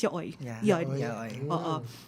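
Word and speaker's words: yaoi: develop term or Yi no actually the proper proper term is yai so um y Yao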